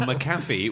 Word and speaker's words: McAfee: he tricks people by changing the pronunciation of his surname willy-nilly from maffy which it clearly is um so another celebrity